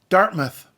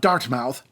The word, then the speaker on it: Dartmouth: from Halifax is Dartmouth got that Dartmouth not dark mouth Dartmouth which was named